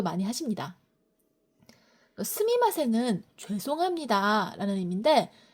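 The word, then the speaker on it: すみません: 스미마생은 죄송합니다라는 의미인데 실제로 일본에선 스미마생이라고 미를 정확히 발음하기보다는 스마생이라고 뭉개서 많이 하시더라고요.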